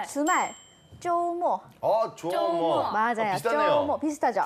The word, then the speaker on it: 周末: 쪼모. 조모. 맞아요. 비슷하네요. 쪼모. 비슷하죠? 쪼모. 쪼모. 네, 한국어 발음이랑 비슷한데요. 네. 토요일은 쪼 길고 일요일은 금방 끝나요. 그래서 모. 조모. 길고 짧게 쪼모.